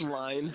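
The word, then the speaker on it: Lyne: Um but all right, let's talk about Adrien L. This guy. It's pronounced line.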